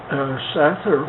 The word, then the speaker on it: Sather: It's called Sather Gate, and it's spelled S-A-T-H-E-R, Sather. So Sid Sather, when I was a little tiny guy, he now pronounces that name Sather, and he has a wonderful jewelry store.